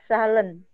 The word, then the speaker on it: zahlen: Z-nya itu dibaca S ya, zahlen. Dibacanya apa ya? TZ mungkin Ibu ya, TZ.